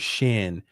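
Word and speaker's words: שין: the letter Shin I've talked about when you pronounce the word Shin it is sh the nun on the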